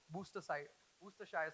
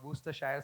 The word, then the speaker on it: Worcestershire: become what is the most difficult sauce to pronounce in the kitchen. For us chefs, it's W sauce, Worcestershire sauce. You know, Worcestershire or Worcestershire sauce.